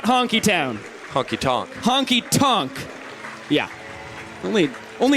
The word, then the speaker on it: Honky Tonk: saying it because I I was like split between Honky Tonk and honky town it's not honky town it is not honky town Honky Tonk Honky Tonk yeah only